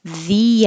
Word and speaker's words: the: and we talked about the apple and the strawberry because the sounds like e because the word that comes after it begins with a vowel so if it begins